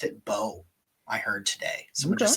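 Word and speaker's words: Mbow: Somebody called Marcus Mbo, just pronounced it Bo.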